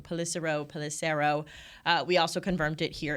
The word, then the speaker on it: Pelissero: I always say his name wrong. Pelissero.